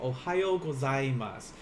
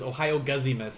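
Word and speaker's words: おはようございます: difficult to say but it's like ohio gozaimasu like my roommate like teases me says ohio guzzi miss and i'm like no no but those are generally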